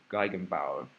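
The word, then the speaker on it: Gegenbauer: I think this is pronounced gigenbau polomials and it's a generalization of the leandre polinomials.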